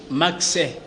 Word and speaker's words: Maxe: C'est pour dans la prononciation, on a toujours dit Max.